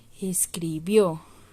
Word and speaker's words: escribió: porque no es aguda escribió escribió está en pretérito en pasado y en donde llevar asiento escribió al final y termina en vocal es una aguda que